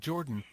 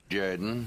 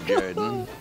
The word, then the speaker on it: Jordan: show now something completely different this is chug jordan coach of the auburn tigers no no no no no no pronounced jaden yes yes yes this is chuck jaden football coach of the auburn tigers love it